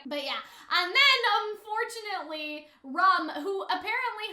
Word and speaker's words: Rum: yeah and then unfortunately rum who apparently her name is pronounced like ram but for some reason